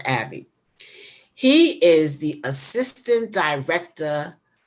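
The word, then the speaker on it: Aebi: uh uh Troy Abbey he spells his last name a-e-b-i but it's pronounced Abby he is the assistant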